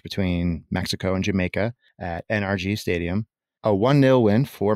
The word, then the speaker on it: NRG: the energy sector uh I've never heard anyone pronounce it energy I mean I say energy a lot but they don't refer to the stadium in which you were referencing as energy but rather they use the three letters very articulated NRG